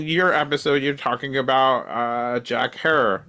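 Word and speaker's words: Jack Herer: So like in your episode, you're talking about Jack Harrer, Rhymes with Terror.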